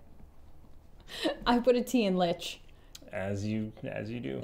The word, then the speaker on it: Lich: I put a teen Lich as you as you do yeah well it rhymes with a couple other words stitches in fact mmhmm yeah